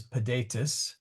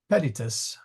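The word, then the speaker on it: pedites: and the plural is pedatus sorry p yeah uh pedius sorry emphasis on the wrong salable pedius uh which is also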